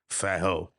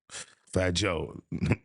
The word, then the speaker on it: Fat Joe: Uh, but yeah, fat hoe. Fat Joe.